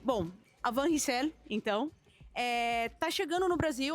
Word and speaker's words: Van Rysel: Como se fala o nome da Van Rysel, Van Rysel, Van Rysel? Como é que a gente fala isso? Então a gente fala Van Rysel, mas não é uma